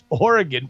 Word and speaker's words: Oregon: one to read this when referring to the state the last syllable should be pronounced gun when talking about the city in Wisconsin it should be pronounced gone how about you gun